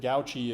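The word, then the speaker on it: gauche: You can pronounce it gauchi if you want to, but I think go sounds fancier.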